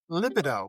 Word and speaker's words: libido: Also referred to as libido or if you're English, libido.